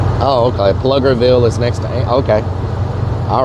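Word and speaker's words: Pflugerville: Pluggerville. It's pronounced Pluggerville.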